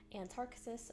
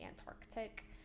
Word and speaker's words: Antarctis: So anyways, this is a big tangled mess, but so this is the Antarctis shawl, it's so beautiful, and I almost always say it wrong. I always want to say Antarctic.